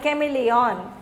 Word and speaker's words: chameleon: Then chameleon, chameleon, C-H-A, you should not say cha, because H is the silent, chameleon, chameleon, okay.